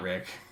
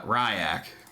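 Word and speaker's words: Ry'ak: Nope, it's not Rick. It's uh Ryak. Yeah. He pulls out his hand. He says, "Uh, it's spelled R Y apostrophe AK."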